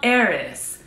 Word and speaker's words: Heiress: Hotel Heiress. The H is silent. Mom, you have to go like that. Hotel Heiress, Tarte.